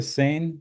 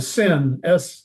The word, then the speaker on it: Seine: Is this the Seine River or? Yes, they call it the Seine. I would pronounce it Seine, but the French pronounce it Seine, I guess, is what I was told anyway.